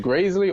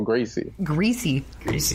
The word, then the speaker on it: Greasy: Is it Graisley or Gracie? Greasy. Greasy Neal?